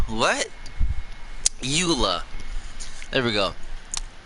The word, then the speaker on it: Eula: that's her name but i always said it wrong by accident because i kind of read it as elo instead of luila what eula there we go it's